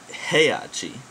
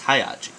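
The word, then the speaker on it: Heihachi: easy it is not heyachi it is not high it is hayachi you know hayachi Mishima that's how they say in the game I don't know why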